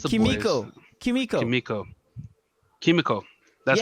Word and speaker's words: Kimiko: Kimiko. Kimiko, Kimiko. That's how you Yes.